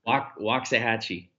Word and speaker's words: Waxahachie: And can you pronounce pronounce the name of the city that your store is going to be in? Yeah, Waxahachie, Indian for really good barbecue.